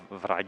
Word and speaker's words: Wrage: Volker Wrage. Wrage, yeah. Wrage, yeah. Wrage, Yeah. So that's the real pronunciation.